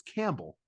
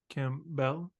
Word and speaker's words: Campbell: Why are you putting so much emphasis on the bell? It's Campbell. CamBELL?